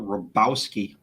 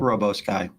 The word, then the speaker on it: Rabowski: And this is Daniel Rabowski. I know it's spelled Robowski. It's actually Rabowski.